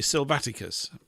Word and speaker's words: Silvaticus: Salvage, and in Latin Silvaticus. That's how it would be pronounced. They put the emphasis on the A. So it'd be Silvaticus.